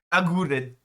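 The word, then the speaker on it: Aguerd: Agurd.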